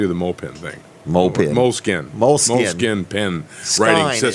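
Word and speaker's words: Moleskine: the moped thing mopey moleskin moleskin pin it's SK ine right yeah it's been skinned what they're just the silent E is that right yes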